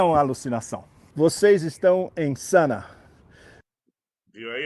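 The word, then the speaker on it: Sanaa: Vocês estão em Sana. Viu aí? A pronúncia é Sana.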